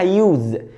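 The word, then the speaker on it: use: يستخدم او يستعمل اسمها يوز يوز واقدر ا عليها كمان يو يو طب انا ليه قلت يوز عشان الاس ما بين تو فاولز ما بين حروف متحركه بقت يوز يوز الاتنين صح طيب يبني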